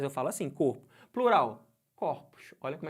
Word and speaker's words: corpos: corpo você vê que esse corpo é o pronuncio assim não é não tem acento circunflexo mas eu falo assim corpo plural corpos olha como é que eu falo Ah mas